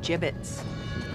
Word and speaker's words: gibbets: from me hey look look ay had some gibbets left over jbits what it's pronounced jbits are you sure yeah well no one likes